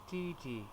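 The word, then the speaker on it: 弟弟: Dìdì. Yeah, which is the falling tone.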